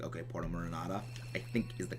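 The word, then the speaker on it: Porto Marinada: Now making our way back to Porto Marinata. I think I finally, like, pronounced the place right. I used to always call it Porto Marindo, and I know that's wrong, but I just don't really care enough to correct myself.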